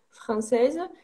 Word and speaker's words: français: Attention de ne pas prononcer française parce que c'est le féminin.